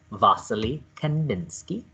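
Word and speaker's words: Wassily Kandinsky: you can that you succeeded when you can pronounce his name vasily kanninsky and when you know that he is the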